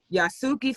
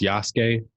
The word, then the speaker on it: Yasuke: Yasuki follows an African Ronin in feudal Japan with magic and mechs. So, I will say that I think it might be pronounced Yasuke. Okay. Like Yusuke, but Yasuke.